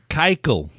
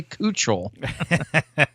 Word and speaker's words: Keuchel: Dallas how do you pronounce that last name for the Astros I can't Keuchel Keuchel I won't I always want to say ku tral but I think if Keuchel is the appropriate way of saying it and